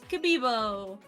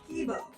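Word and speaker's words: K1-B0: Oh, it's Kabibo. It's pronounced Kibo.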